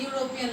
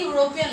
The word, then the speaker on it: European: Consonant Y sound is coming here.